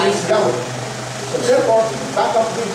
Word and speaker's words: Yahweh: Most likely, the most accurate pronunciation is Yahweh.